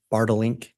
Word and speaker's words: Bartlink: And am I saying that correctly? It's Bartlink? You pronounced it perfectly.